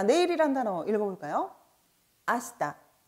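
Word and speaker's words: 明日: 아시다, 아시다.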